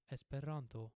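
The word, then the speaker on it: Esperanto: Four syllables and the accented syllable is always the second to last syllable. The So, this is pronounced espiranto.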